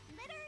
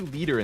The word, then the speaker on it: Liter: Litter is here. I always say leader instead of litter. I feel like it needs a second T if you're going to pronounce it as litter.